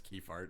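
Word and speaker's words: Kephart: by uh Ela keyart keer ke ke it's keyart we're saying ke fart uh now not much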